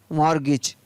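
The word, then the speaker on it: mortgage: SASTN हैशन, CHRISTMAS Christmas, SOFTN soften, MORTGAG मॉर्गेज। तो इन सभी में आप देख रहे हैं यहाँ पर टी का उच्चारण है वो नहीं हो रहा है, और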